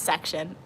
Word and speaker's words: Section: It's Section.